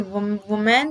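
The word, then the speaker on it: woman: इसकी जो प्रोनाउंसिएशन है वो भी डिफरेंट, हम दोनों को वुमेन ही पढ़ देते हैं, लेकिन ऐसा नहीं है। वुमैन को अगर सिंगुलर है तो हम उसे वुमन बोलेंगे, एंड अगर वो प्लूरल है तो हम उसे विमेन बोलेंगे, okay, वुमन एंड विमेन, okay.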